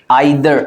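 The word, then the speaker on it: either: आई बाय बाय गाय आइर बहुत से लोग इदर बोलते हैं बट ये क्या है आइर नादर इजर ठीक है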